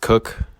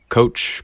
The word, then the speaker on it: Koch: spelled k-o-c-h it's pronounced cook yeah yeah it's really it's really strange way of spelling cook but i was not